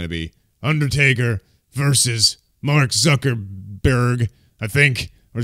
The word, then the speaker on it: Zuckerberg: be Undertaker versus Mark Zuckerberg, I think, or Zuckerman, or whatever, at WrestleMania 39. What the hell's his name? Is it Zuckerberg? It's Zuckerberg. Oh, okay. I was like, did I say it wrong too?